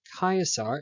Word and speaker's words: Caesar: Rome the rise of Caesar or chiasar if you prefer the classical Latin pronunciation the game must end a 4.23 out of 15.